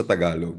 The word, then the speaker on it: Tagalog: Kumbaga yung Filipino na official language base yun sa Tagalog pero yung talagang tawag sa official language ng Pilipino ay Filipino yung Tagalog. Um, usually sa Spanish language mas ginagamit 'yung walang G sa dulo, Tagalog kasi nahihirapan silang i-pronounce ung he sa dulo, Tagalog.